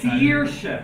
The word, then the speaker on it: Saoirse: Saoirse, because the S is before an A. So it's like a normal S, but then this S is before an E.